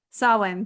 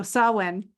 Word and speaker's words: Samhain: Samhain, thank you. I don't want to say it the way it's spelled because I know that's not correct. So Samhain, that is really an honoring of the thinning of the veil.